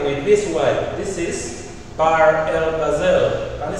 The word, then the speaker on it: Bahr el Ghazal: This is Bahr el Ghazal. Can you say Bahr el Ghazal? Repeat after me. Bahr el Ghazal. Let's spell it B A H R.